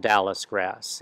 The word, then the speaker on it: Dallisgrass: one that is hard is is one called Dallas grass and that is spelled D A L L I S and